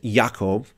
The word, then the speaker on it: Yaakov: James which is actual original name was Jacob or actually more accurately pronounced Yaakov the son of Zebedee